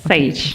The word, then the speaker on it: Sage: So you have a VP Learning and Development of a major group called Sage. Yes. Am I pronouncing it right? Yes, Sage.